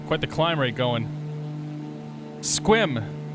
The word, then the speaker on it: Sequim: you guys all right one syllable squim it's like new englanders not saying things how they're spelled second Valley traffic Sky